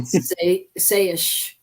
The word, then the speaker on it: Saysh: brand of running shoes called Sayish, and every time I look at that name, it's spelled Saysh. So I'm thinking there's a space in between them.